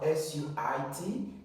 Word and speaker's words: suit: word if you have S UI T this one is pronounced as suit the I is silent in that pronunciation as here you're going